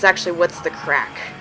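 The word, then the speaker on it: craic: her, like, what's the crake? Crake? That's how Alex pronounces it, but apparently it's actually what's the crack. And they say crack in Ireland, but it's C-R-A-I-C.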